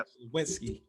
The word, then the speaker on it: Sliwinski: That was Sliwinski. I want to make sure I'm pronouncing that correctly. I don't want to do you wrong. You got it perfect. Yeah. Sliwinski. Thank you.